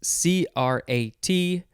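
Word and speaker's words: -crat: next is a suffix c-r-a-t noun you'd pronounce it crat noun one advocate or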